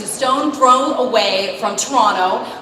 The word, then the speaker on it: Toronto: stone thrown away from Toronto we do not pronounce the second T in Toronto is just a toron no like so many people